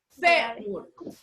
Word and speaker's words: fémur: Fémur. Lo mismo sucede con fémur. Fémur es una palabra grave, lleva el acento en fe y la tildamos, ¿por qué?